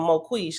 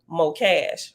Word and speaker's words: Mo Cash: So remember, at first I was calling him Mo Quish because I didn't know how to pronounce his name, but we found out in a footnote that you pronounce his name Mo Cash, right?